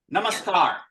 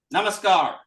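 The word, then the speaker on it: नमस्कार: deeply into the word namaskar namaskar namaskar that's a scar and then a long a and the rum that long a is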